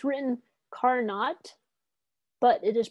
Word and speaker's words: Carnot: carnot principle and by the way it's written car not but it is pronounced carnot so now you know not just